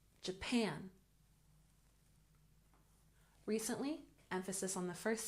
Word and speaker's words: Japan: first syllable traveled traveled Japan has emphasis on the second syllable Japan Japan recently emphasis on the